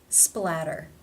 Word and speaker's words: splatter: They come between two vowel sounds. Therefore, it is the flap, tap T, or the D sound. Splatter, splatter.